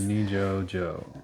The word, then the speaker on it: Nijo-jo: I think it's Nijo. Nijo. I keep making the J's H's. Nijo-jo. Nijo-jo Castle.